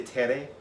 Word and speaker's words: Tere: Is it Tere or Tir? Or Ter? Tere, I would say Tere.